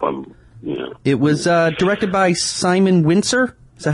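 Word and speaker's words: Simon Wincer: I hope I'm, It was directed by Simon Winsor. Is that how you say his name? Simon Winsor.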